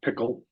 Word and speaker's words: Pkl: And Apple introduces a new programming language called PKL or Pickle. Not sure how you pronounce it. Yeah, it's Pickle.